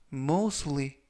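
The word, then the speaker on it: mostly: 뜻이 되겠습니다 일본 표현은 뭐 수익 뭐 수의 뭐 수의 라고 발음 하시면 되겠고요 이때 튀는 묵음 은 아니지만 발음할 때 거의 발음이 나지 않습니다 그래서 뭐 수의 라고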